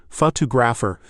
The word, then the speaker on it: photographer: Photographer. Feel that second syllable pop out.